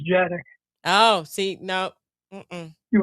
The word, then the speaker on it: Dziadik: It pronounced as Jadick.